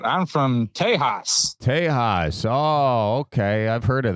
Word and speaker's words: Tejas: No, he's just pronouncing it the traditional way. Tejas.